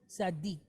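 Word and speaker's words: צדיק: So in this case, the D is going to be double. Okay? So I'm going to write my words up here. All right, so the word is tzaddik.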